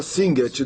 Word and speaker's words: Singet: Então, no coro 2, ele começa com a palavra Singet, 2 sílabas.